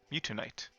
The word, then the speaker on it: Mewtwonite: Mewtwonite. I wanted to add an extra syllable in there, like Mewtwo tonight, but that's not right.